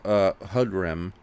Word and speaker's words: Hudram: His first question is, what do you think of Hudram?